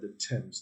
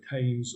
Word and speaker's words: Thames: the thames all right the thames don't say times or whatever some other pronunciation it's the tense right it has a very it isn't pronounced as it spells like a lot of words right so it's the